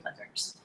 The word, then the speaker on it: Plickers: Plickers, P-L-I-C-K, oh gosh, I'm gonna say it wrong, like, just like it sounds, Plickers, P-L-I-C-K-E-R-S.